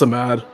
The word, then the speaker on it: Samad: Is it Samad? Oh, it's just Samad. Samad. Yeah. Did I pronounce that right? Yep. All right, so we're gonna say you're so mad. I mean, so yeah, do it, man. Gotcha. All right, man. Well, good luck. Thank you. Thank you. So I had to make sure I'm pronouncing that right. It's Samad, as he is getting